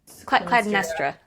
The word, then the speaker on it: Clytemnestra: Clytem- Clytem- Clytemnestra.